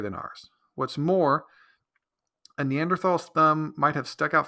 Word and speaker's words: Neanderthal: Most people say Neanderthals, but I guess it's pronounced Neanderthals.